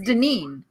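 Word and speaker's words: Danine: actually my real name my real name is dineen it's spelled d-a-n-i-n-e or if you read it on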